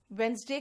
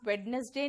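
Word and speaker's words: Wednesday: ठीक है, देखिए वेंसडे का हो गया, वेडनेसडे नहीं वेंसडे बोलना।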